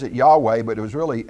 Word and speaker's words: Yahweh: as we also talked about and that's we pronounce it Yahweh but it was really h y wh and